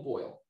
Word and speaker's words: Boyle: chicago at minus three i keep on saying his name wrong doyle boyle boyle boyle i'm dying against